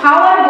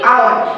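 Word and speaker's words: hour: আমরা কিন্তু হাওয়ার বলি না, আমরা কি এরকম বলি? হাওয়ার না বলি না, আমরা কি বলি? আওয়ার। মানে এখানে এই যে উচ্চারণটা হচ্ছে না।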